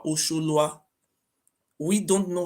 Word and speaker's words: Ozolua: Oba Ozolua is not even Oba Ozolua, it's called Oba Osholua.